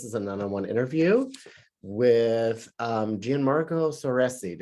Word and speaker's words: Gianmarco Soresi: This is an one-on-one interview with Gianmarco Soresi. Am I saying it correctly? I mean, it's so close. I Okay. hate to. It's Gianmarco Soresi.